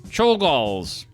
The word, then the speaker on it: Czolgosz: a man who has one of the most mispronounced names in American history, Czolgosz, walked right up to McKinley, acting like he was just going to shake his hand.